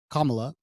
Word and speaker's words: Kamala: Okay, so Kamala Harris' first name, which is pronounced Kamala, it means lotus in Sanskrit.